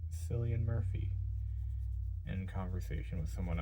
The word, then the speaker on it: Cillian: I thought it was a soft C. I'm like, oh, Cillian Murphy. Cillian Murphy. Cillian. I like that name. And yeah, so I was wrong.